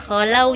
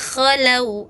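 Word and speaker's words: خَلَوْا: Nah, idza kakak bacanya cuma idza khalau. Jadi kesannya seperti ha ya, cuma ha di diganti o gitu ya. Harusnya kan di sini kayak di ujung ya. Kalau K itu di ujung tenggorokan.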